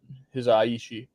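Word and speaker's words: Hisaishi: know it was joe hizaishi or his uh his aishi you know that's how it's pronounced um and i thought ost was really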